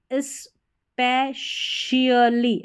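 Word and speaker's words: specially: स्पेशली, ऐसे स्पेशली, स्पेशली ऐसे पढ़ना है, स्पेशली, स्पेशली पढ़ेंगे तो सही प्रोनाउंसिएशन नहीं आएगा, स्पेशली, स्पेशली, ठीक है। इसको शली करके पढ़ देना, CIALLY, सियलिया, सियली नहीं, शियली या शली, ऐसे स्पेशली, स्पेशली, स्पेशली ऐसे भी पढ़ सकते हैं, विशेष रूप से।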